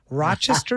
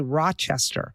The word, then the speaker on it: Rochester: You would probably say Rochester. But if No, you are Rochester. from Rochester, You might think there was a D in it.